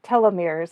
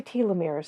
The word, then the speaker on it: telomeres: And for those listening who haven't heard of telomeres, well, first, I should say telomeres, that's how it's pronounced in America, but I say telomeres, so bear with me.